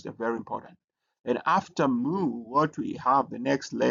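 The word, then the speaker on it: mu: uh you also have moo. So moo uh is uh written like this and also uh it has a m sound.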